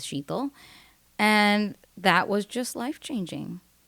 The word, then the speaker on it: Shital: late in life that it's a lot easier to help people pronounce my name if I rhyme it with something. And someone told me lethal rhymes with shethal.